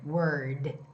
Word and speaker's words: word: Word.